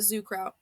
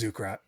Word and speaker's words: Zukrat: So now we're playing we're playing with Zukra. Zukrat. Zukrat. I always say it wrong. They're gonna they're gonna get me. It's Zukrat. Yeah.